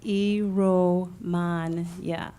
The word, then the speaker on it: Iromuanya: it to you again first name is last name is ero mon yeah so II romagna and